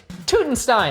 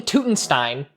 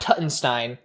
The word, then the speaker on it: Tutenstein: So I'm gonna say King Tutenstein and not Tuttenstein.